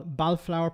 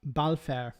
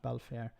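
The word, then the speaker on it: Balfour: Al Balflower pronounced Balfare. Sorry, apologies for that. Balfare uh not Balflower as in the Balfair declaration of uh 1917 which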